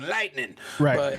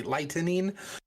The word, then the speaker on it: lightening: of a tattoo lightening I always say that I have to like pronounce it because it always sounds like cracking lightning but um but it's actually lightening where it's a a